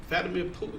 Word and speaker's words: Vladimir Putin: In other news, so Russia, uh, Vladimir Vladimir Putin, that's how you say his name. Vladimir Putin, it's like an international show.